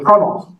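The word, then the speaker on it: treenail: The Vasa was held together with trunnels, wooden pegs, 3 nails. They always pronounce them trunnel. Weird thing with the maritime things. They never pronounce them the way they're spelled.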